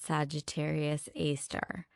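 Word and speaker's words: Sagittarius A*: It is called Sagittarius AAR, written with an asterisk that astronomers pronounce as star, a name far too clerical for what it labels.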